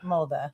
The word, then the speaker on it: Molde: All right, so this was on an excursion in Molde. Is that what you say? How you say it, right? Molde.